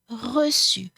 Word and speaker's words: reçu: It's not ou, it's u. Bu, pu, voulu, dû, su, connu, vu, reçu.